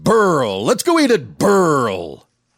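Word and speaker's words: BRL: B-R-L, pronounced Burl.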